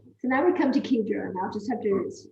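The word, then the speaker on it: Xigera: And a few years ago, they bought Kedra. It's pronounced Ki, that's Ki in a keyhole, Jera. So Kedra.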